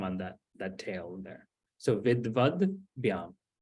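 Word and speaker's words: विद्वद्: No, it's just the has the line underneath, so it's not so it's Vidvad instead of Vidvada. So it's just reducing that, getting rid of that akara.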